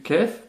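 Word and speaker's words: ك: Une nouvelle lettre emphatisée, le qaf, qa, qi, ko, qui est vraiment différente du kef, prononcé comme un K français, ka, ki, ku.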